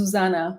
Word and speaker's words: Zuzana: It's Zuzana, Zuzana. So it's like, it's a strange one because I actually don't like my name. But it's like, because I'm Slovak and Slavic group of languages, and what's so special about our group of languages, we are very harsh. So we always emphasize the first syllable. So the stress is always on the first syllable. So it's like Zuzana, But meaning of my